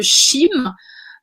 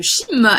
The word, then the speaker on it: chyme: Donc, ce qu'on a le bol alimentaire quand il est arrivé dans l'estomac va devenir le chyme. Je prononce ça, C-A-M-E.